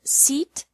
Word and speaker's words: seat: seat sit and set the secret to making the difference between these three sounds is how much you open your mouth for the e sound in seat your mouth is almost closed for the e sound in sit your mouth is a little more open and for the earth sound in set your mouth is even more open watch me listen and